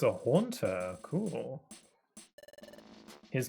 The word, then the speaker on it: Haunter: Um, so I would tend to just like not consider words a lot and I just thought his name was Hunter for some reason. It's Haunter makes more sense.